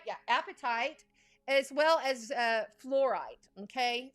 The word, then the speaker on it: apatite: Yeah, apatite, as well as fluorite.